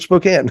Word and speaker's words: Spokane: It's because I have a friend there and he pronounces it Spokane.